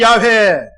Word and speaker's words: 야훼: 결론부터 먼저 말씀을 드리면 아직까지 여호와 하나님이 맞다. 그 이름의 발음이 야훼 하나님이 맞다. 정확하진 않아요.